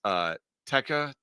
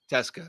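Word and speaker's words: Tecza: Alex Texa, how do you say that? I think it's Teska. Teska, thank you, is a weapon for the mids, 163 yards rushing and a touchdown.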